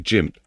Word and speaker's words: GIMP: So it's GIF, so it'd be Jimp. It's Jimp, it's pronounced. Because G's are spelled pronounced like a J, I think, innit?